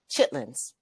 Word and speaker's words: chitterlings: Chitlins. Now it's spelled like chitterlings, but but really when it's pronounced it's chitlings.